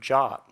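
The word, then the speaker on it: JWT: A JSON web token pronounced like the English word jot um or to write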